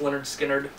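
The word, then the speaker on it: Lynyrd Skynyrd: This is their first album, pronounced Leonard Skinner, and their second album, Second Helping.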